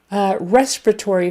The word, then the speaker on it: respiratory: word, you need to make sure your accents are correct. Respiratory. So it's on the first syllable and then the fourth. But the strongest is on the first syllable. Respiratory. So not respiratory, respiratory or respiratory or any other version. It's got to be respiratory, respiratory.